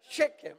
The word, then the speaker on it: Shechem: Yeah, I said it right. Oh, thank you, my brother. You are very kind to me. Shechem is right.